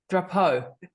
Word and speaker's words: Drapeau: Yeah, how do you say his last name? Drapeau. Drapeau, Drapeau, it's yeah. French.